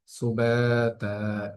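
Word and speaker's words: سباتا: নাউ মাকুম, কোনো টান নেই, স্বাভাবিক ভাবে কোনো গুণ নেই, স্বাভাবিক উচ্চারণ হবে সুবাতা। সুবাতা শব্দটির মধ্যে বায়ের মধ্যে একাধিক টান হচ্ছে এবং তায়ের মধ্যে একাধিক টান হচ্ছে, সেম একই কারণ, যে জবরের বাম পাশে খালি আলিফ মাদের হরফ।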